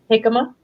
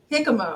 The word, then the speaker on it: jicama: to try the Kaiser jicama jicama okay I was like okay that J is not a j it's j it's pronounced like an H in Spanish okay yeah I was